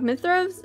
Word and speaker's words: Mithros: god i can't talk mithros is how you say it sir mithras the royal